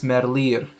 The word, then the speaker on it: Merlier: uh tim merlier and i think you say it like that like people say merlier i used to him earlier but i think it's merlier that's my belgian pronunciation if you were wondering